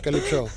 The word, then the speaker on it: Calypso: But it's easy to pronounce, Calypso. Calypso, yeah, and I noticed that you really emphasize the O at the end.